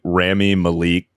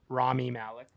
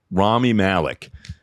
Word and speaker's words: Rami Malek: day that was like, on stream, I kept pronouncing Rami Malik. How the fuck do you say this motherfucker's name? Rami Malek? Rami Malek. Rami Malek. I kept saying Rami Malik on stream.